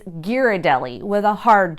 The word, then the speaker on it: Ghirardelli: constantly struggle with and I've heard it alternately as Ghiradelli with a soft G and Ghirardelli with a hard G actually locals debate this as well but the correct answer is its Ghirardelli with a hard G